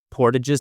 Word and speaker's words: portage: Can you tell us a little bit about portages? Now you're using the more French or Canadian I am, yeah. portage pronunciation.